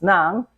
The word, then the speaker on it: ng: NG V the noun which we pronounce as Nam and then you attach